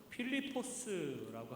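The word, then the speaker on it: Φίλιππος: 빌립이라고 하는 이름 그리스어 발음으로는 필리포스라고 하는 말인데요.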